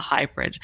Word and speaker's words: HAIbrid: You're developing what you call hybrid algorithms. Here we mm-hmm. come on the hybrid. And that's spelled HAIbrid.